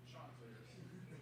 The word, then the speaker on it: Chanticleers: Chanticleers.